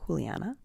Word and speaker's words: Juliana: I thought it was Juliana, but she pronounces it Juliana.